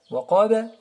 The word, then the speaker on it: وقب: Wa min sharri ghasiqin idha waqaba. Alors, on fait attention au ba aussi. Il est comme le qaf. Il y a hukm al-qalqala, la vibration. Waqaba, وقب.